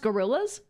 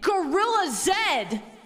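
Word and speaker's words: Gorillaz: Wait, it's literally pronounced gorillas? Well, no. It's called gorillas? I've been pronouncing it Gorilla Zed.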